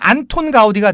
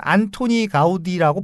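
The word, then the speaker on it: Antoni Gaudí: 그래서 카탈루냐어로 발음을 하면 이분이 안토니 가우디입니다.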